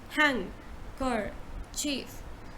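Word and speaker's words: handkerchief: hanker chief hanker chief hang it's hang hang you you say hang kar chief so you say hand first okay hang guard and then you say car and then you say chief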